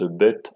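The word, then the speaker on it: ב: notre alphabet habituel et qui se prononce bête en hébreu et ainsi de suite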